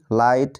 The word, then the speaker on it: light: পরে GH রয়েছে, তাই এই শব্দগুলিতে GH এর উচ্চারণ হবে না। যেমন দেখো HIGH, হাই এর অর্থ হলো উচ্চ। তারপর LIGHT, লাইট এর অর্থ হলো আলো।